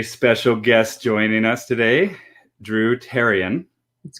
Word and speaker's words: Dru Therrian: guest joining us today drew tarion that's correct h is silent so like terry herbitarian